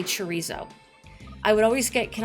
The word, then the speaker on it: chorizo: It's specifically dads, specifically like middle-aged white dads can't say chorizo. I would always get, can I get the chorizo? Can I get a chorizo? Chorizo? Like they would add extra syllables.